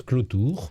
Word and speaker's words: Cloutour: C'est à propos de votre nom, qui s'écrit Clotour. Oui. Et qu'on prononce Clotour.